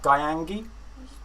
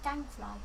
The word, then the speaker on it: Gangfly: And I don't know how to pronounce that. Gyangi? Just say Gangfly.